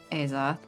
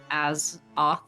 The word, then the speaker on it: Azoth: Yeah, What did I say? Azoth. How is it pronounced? As off.